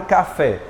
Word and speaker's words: café: Pronunciar a palavra café. Se for mais forte, você levanta a mão. Ó, vamos lá, ó. Café. Qual é a mais forte, gente?